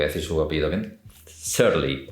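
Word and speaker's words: Cearley: Que se llama Clint, voy a decir su apellido bien, Searly o Searly se escribe.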